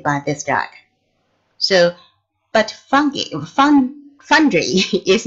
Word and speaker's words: fungi: how to pronounce this word, fungi or fungi. Yeah, in English, it is fungi.